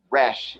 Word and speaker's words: Resh: I'm not very good at doing that sound, but if you have an R sound, then that is the pronunciation, and it refers to the sun, which is more on a physical level.